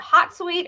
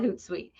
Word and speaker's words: Hootsuite: called is it called hot sweet or is it called hootsuite i think it's called hootsuite because it's h-o-o-t but i am not gonna lie i don't know how you pronounce it okay so we're just